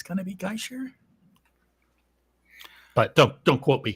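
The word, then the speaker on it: Gaißer: mean I did yeah so it's it's g-a-i the funky little B thing ER so geisher I just I think I think in German if I understand correctly if you have two vowels together you pronounce the second one so it would be guy as opposed to gay uh for the first syllable and it's that B I think is an sh sound so I think it's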